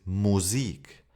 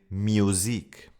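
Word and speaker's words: Musik: And be careful not to pronounce it you as in English. For example, the German word for music is music. But I hear a lot of learners who say music, and that's wrong.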